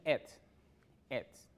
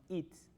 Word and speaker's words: eat it: La clase pasada hablamos de ets, ¿ok? Vamos a hacer un refrescamiento de esto porque vamos a continuar. Recuerden, vamos seguido. Les había dicho que se pronuncia como ets, no its, ¿ok?